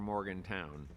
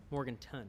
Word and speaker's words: Morganton: Spelled Morganton or Morgantown? Morganton.